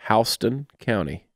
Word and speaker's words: Houston: The name of that county is spelled the exact same way as Houston, but that's not how you pronounce it. Houston? Houston County.